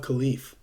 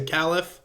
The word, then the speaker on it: khalif: to the position of khalif and i know it's khalif i usually say calif sorry again if i